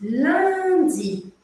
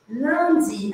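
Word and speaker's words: lundi: passo por passo L Land Land a gente tem aqui um som que não existe em português que é o som ã an Você pode abrir um sorriso para fazer isso ó Land tem que sorrir felicidade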